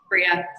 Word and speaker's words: Breja: But let's be clear, how do you say your name, Breja? Bria, silent J.